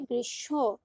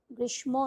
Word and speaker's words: গ্রীষ্ম: গ্রীষ্ম উচ্চারণটা হবে গ্রীষ্ম, গ্রীষ্ম নয়।